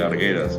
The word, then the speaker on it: Argueras: Por ejemplo, en el apellido arguas se escribe guer argueras, pero ahí la u no suena.